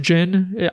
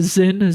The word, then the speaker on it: Zin: Fun fact, I just realized in this game that it's pronounced Jin. I used to call him Zin, Z-I-N, because that's how it's spelled.